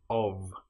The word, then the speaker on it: of: One important example that you should know about is the word of, which is O F. But in this case the F is pronounced like a VV. If we have O f of that then is nonvoiced but the F in of is voiced.